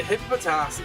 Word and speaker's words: Hippopotas: You always uh add an extra po into hippopotas. Hippopotas. You say like hippopotas like empistic hippo.